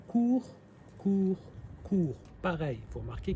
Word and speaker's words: court: des règles d'or c'est en général on ne prononce pas la dernière lettre et ben voilà là c'est un bon exemple port porort porort court court courts s s